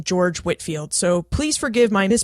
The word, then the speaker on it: George Whitefield: he pronounced his name George Whitfield so please forgive my Mis pronunciation I did try to correct that but his name is pronounced George Whitfield but spelled Whitefield now before we get